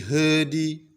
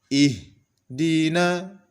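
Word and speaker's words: اهدنا: sehingga tidak boleh dipantulkan contoh yang terpantul seperti ini Ih Hedy Hedy contoh yang benar adalah ihdina ihdina kemudian Masih pada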